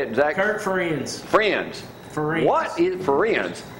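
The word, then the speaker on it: Ferentz: I might get his name wrong, but the University of Iowa, Kirk, how you say it, Zack? Kirk Friends.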